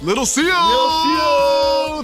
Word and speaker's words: Lil Xio: You got to say it like this. Lil Xio. That's how you do it.